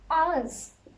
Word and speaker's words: ağız: Ağız. This one is A. So you have to read this A, then you have to ignore this, and then this one you have to pronounce A.